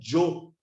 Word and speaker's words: yo: Yo é Y-O em espanhol, mas a pronúncia dos irmãos que falam espanhol, quando vai falar de Jó, Jó em português, né? J-O, acento agudo no O, mas no espanhol é yo, que tem a mesma sonoridade do yo, de eu.